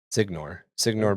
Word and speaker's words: Signor: Is that Signor or Senior? Signor Bruzizzi. Signor Bruzizzi.